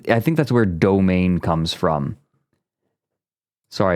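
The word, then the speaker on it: demesne: parody of tough guys most people haven't heard demen be pronounced I looked this up once I'm I'm going to double check I have it right demen yeah domain sorry it's a domain because it used to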